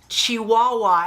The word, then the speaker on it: Chihuahua: And y'all, finally somebody in the video, in the comment section, commented and said, it's pronounced Chihuahua, as in the dog.